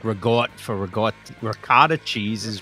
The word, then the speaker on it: ricotta: And we don't Sometimes you don't pronounce the vowel at the end like Yeah. Like we just drop that like like regot like regot for regott ricotta cheese is regott or regotta regott